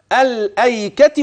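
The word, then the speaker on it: الأيكة: هتقول كده واصحاب الايكه ولو هتبدا بيه الايكه وقوم تبع هي فيها خلاف لا ده الكل كل القراء في هذا الموطن ينطقون بالف ولام فخلي بالك واصحاب الايكه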